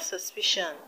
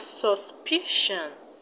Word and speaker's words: suspicion: are suspicion and creation in the word suspicion the stress will be on the second syllable from the end which is p i we have suspicion suspicion and in the